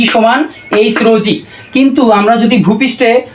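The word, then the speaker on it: ρ: ভাই এটার নাম হচ্ছে রো। এ নাম হচ্ছে রো। এই রো হচ্ছে ঘনত্ব। রো হচ্ছে ঘনত্ব। আমি উচ্চারণটা নিচে একটু ছোট অক্ষরে লিখে দিলাম। এটা হচ্ছে রকারে রো হচ্ছে ঘনত্ব।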